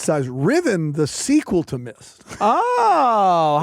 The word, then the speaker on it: Myst: Riven, the sequel to Myst.